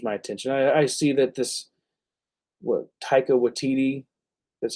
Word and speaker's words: Taika Waititi: I see that Taika Waititi, that's how you say it, is going to be doing a Star Wars movie.